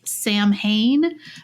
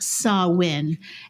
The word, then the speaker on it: Samhain: uh sawin which is it looks like it's Sam hay but it's pronounced saw win and that originated about